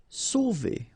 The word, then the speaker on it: sauver: Sauver. Okay, remember when you combine A and U, you get the sound O. So really like the letter O.